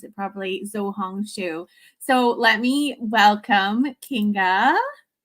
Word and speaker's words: Xiaohongshu: wrong as well but from what i understand it's pronounced shao hong shu interesting okay i'll have